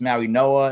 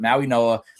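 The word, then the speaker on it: Mauigoa: his name is Francis Maui Noah. It's spelled Maui Goa with a G. They spell they they pronounce things weird.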